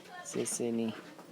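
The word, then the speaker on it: 谢谢你: अब थ्याङ्कको प्रोनाउन्सिएसन उच्चारण कसरी गरिन्छ भने चाहिँ म सेसेनी भनेको चाहिँ थ्याङ्क यू भनेर भनिन्छ चाइनिज भाषामा।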